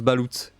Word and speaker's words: Balout: Ça se prononce Balout. Oui, c'est vrai. Je crois que ça se prononce. Je l'avais prononcé Balout. Balout. Et là, je le dis comme Fallout, mais avec Balout.